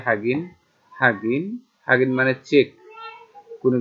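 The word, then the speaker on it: 확인: মানে একবার, হাগিন হ্যাঁ, এখানে লেখা আছে হওয়া গিন, এই হওয়া গিনটা কিন্তু উচ্চারণ হবে হাগিন, হাগিন, হাগিন মানে চেক,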